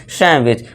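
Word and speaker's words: sandwich: लेकिन इसका correct pronunciation क्या होता है? सैंडविच। सैंडविच। ठीक है दोस्तों? इसका करेक्ट प्रोनाउंसिएशन क्या होता है? सैमविच। अब यहां पे देखिए डी के बाद क्या है? डब्ल्यू है। डब्ल्यू हमने देखा था। तो यहां भी क्या हो जाएगा? डी साइलेंट हो जाएगा। तो इसे पढ़ेंगे सैमविच यानी कि सैमविच।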